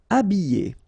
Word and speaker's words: habiller: Habiller. Okay, remember I, double L, and then a vowel, Y. Habiller. H is not pronounced.